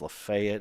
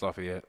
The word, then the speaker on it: Lafayette: Um, and and I say Lafayette. I don't know if it's Lefayet. Is that how they say it down there? No, it's Lafayette.